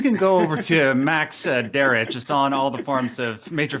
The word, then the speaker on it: Derrat: weird way and pronounced a weird way, but it's spelled D-E-R-R-A-T.